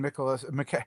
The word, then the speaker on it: Nicolas: There was a very funny conversation between Nicolas. I call him Nicolas now because that's how Nicolas pronounces his name.